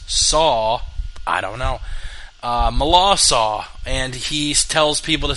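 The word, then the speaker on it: Melancon: the way it's pronounced i looked it up it's spelled milan khan m-e-l-a-n-c-o-n milan khan but apparently the pronunciation is mala saw even though the last words are c-o-n apparently that's pronounced saw i don't know uh malassa and he tells people to say milan son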